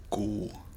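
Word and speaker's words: god: Good is cool. And if you can hear in English, we're saying good stopping at the good good. But in Norwegian, we say cool.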